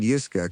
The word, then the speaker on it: Yiska: It said, "Yiska, come here." It was my voice. The pitch, the cadence, the slight stress on the second syllable of my name that I have heard in recordings of myself.